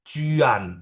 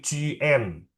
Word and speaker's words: juan: Jadi bacanya bukan bukan Cuan, bukan Cuan, tapi Cuen.